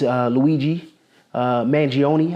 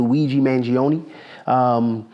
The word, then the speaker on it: Luigi Mangione: And so, you know, the thing that's dominating the news now is Luigi Mangione, I believe is the correct pronunciation of his name, Luigi Mangione.